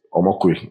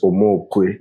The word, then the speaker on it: Omokwe: And the way people pronounce my name is Omokwe, but the real pronunciation is Omokwe.